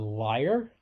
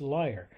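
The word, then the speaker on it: lyre: accompaniment of this harp this liar and that word is spelled l y r e and the word liar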